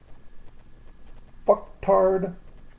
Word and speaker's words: Fuxtard: It's going to be Friday's Fucktard of the Week. Now, it's spelled Fuxtard. Sounds like the other word, but it's not.